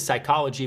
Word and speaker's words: psychology: And the 4th P is psychology, but it doesn't sound as cool because the P is silent.